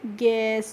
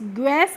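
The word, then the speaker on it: guess: इसके बाद है जी यू ई डबल एस तो इसको हम पढ़ते हैं गैस गस करके नहीं पढ़ते क्या पढ़ते हैं इसको गैस करके पढ़ते हैं और गैस की हिंदी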